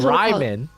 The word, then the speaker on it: Ryman: It's actually Ryman. I keep saying Raymond. It's Ryman. There's a big truck coming into my driveway right now.